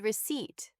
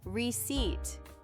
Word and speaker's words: receipt: The second one is receipt. The P is silent. It sounds like seat. Receipt.